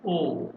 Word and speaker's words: aux: It is pronounced as O.